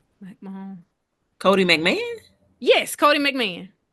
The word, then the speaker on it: McMahon: Cotie, Mac, I don't want to mispronounce her last name. McMahon.